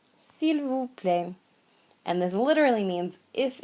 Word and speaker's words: s'il vous plaît: S'il vous plaît. S'il vous plaît. S'il vous plaît.